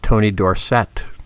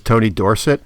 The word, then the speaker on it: Dorsett: I'm dating myself, but Tony Dorsett. Oh, yeah. Remember, yeah. He was Tony Dorsett in college, played for Pittsburgh, and then he went to Dallas and became Tony Dorsett.